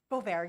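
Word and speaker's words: Boisvert: and is it boar boar yes can you spell that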